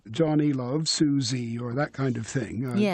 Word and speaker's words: Susie: So it's Johnny loves Susie. So the stress syllable of Susie has to go on the beat at the end.